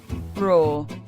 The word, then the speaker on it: RAW: Alors, pour ceux qui auraient encore des doutes sur la prononciation, RAW est un mot anglais qui signifie brut. Et en anglais, ça se prononce RAW.